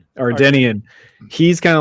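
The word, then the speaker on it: Ardennian: The Andorian. Did I say it right that time? No. Ardenian. Ardenian.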